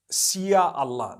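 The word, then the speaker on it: insya Allah: language they write in Sia Allah the s-y-a they pronounce it they pronounce the s y the way we pronounce s h so they can write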